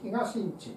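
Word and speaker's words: 東の家: 東の家と書いて東んちと読んでるんですね。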